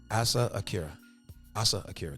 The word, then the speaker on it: Asa Akira: Asa Akira. Did I pronounce it right?